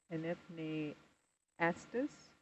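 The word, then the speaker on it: Enypniastes: Inipni astus.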